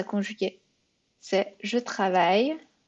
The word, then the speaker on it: travaille: C'est je travaille. Et on dit travail. C'est I-L-L, mais c'est travail.